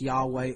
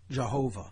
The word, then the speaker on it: Yahweh: English as uh yhvh which we pronounce Yahweh or Jehovah yahovah okay and this